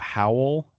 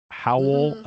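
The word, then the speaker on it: Hywel: Well, okay, so I'd always heard it was actually um like a truncation of Ap Howel.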